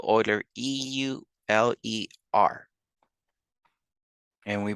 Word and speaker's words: Euler: call it e after Euler we spell Euler e-u-l-e-r and we pronounce it Euler gray mathematician and I suggest